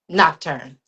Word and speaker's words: Nocturne: So, Noctrin, am I saying it correctly? Noctrin. Nocturn.